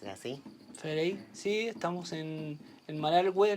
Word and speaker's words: Malargüe: Federico, sí, estamos en Malargüe, le decimos nosotros, que es como se pronuncia en lengua mapuche más tradicional, que es el lugar de los castillos de piedra.